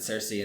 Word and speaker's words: Circe: ends up taking Turkey they say they pronounce it Searcy in the audio book for whatever reason so